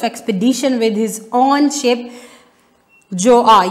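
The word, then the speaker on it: Gjøa: with his own ship जोआ। यहाँ पे बच्चों जी साइलेंट है, हम इसकी प्रोनाउंसिएशन जोआ होगी, इसको जोआ ही पढ़ेंगे।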